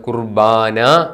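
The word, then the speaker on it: ܩܘܪܒܢܐ: റീസ് ബേത് നൂൻ Olaf കുർബോനോ east ശ്രീക്കിന്റെ സ്വാധീനം കൊണ്ട് നമ്മൾ കുർബാന എന്ന് പറയും പക്ഷേ വെസ്റ്റ് ശ്രീക്കിൽ ശരിയായ ഉച്ചാരണം കുർബോനോ കാറേബ് ഓഫർ എന്നുള്ളതിൽ നിന്നാണ് കുർബോനോ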